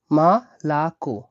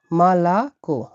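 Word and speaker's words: молоко: এর লাস্টের ও যেটা আছে এটা উচ্চারণ হবে ও হিসেবে। তাহলে এই ওটা খুব বিশেষ ক্ষেত্রে ও আর অনেক ক্ষেত্রে এভাবে ব্যবহৃত হয়ে থাকে। তাহলে মালাকো মালাকো।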